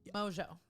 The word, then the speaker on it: Mongeau: How do you say your last name? Mojo.